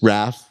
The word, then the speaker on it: Raph: EAS and so sometimes people are like and I go I don't really like that I go just Raph and I go if